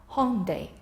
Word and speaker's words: Hyundai: Hyundai, a Korean automobile make. Hyundai, we usually call it.